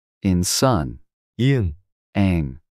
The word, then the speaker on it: 이응: 이응. Ang. This is a silent consonant at the beginning of a syllable but pronounced like ang in song at the end of a syllable.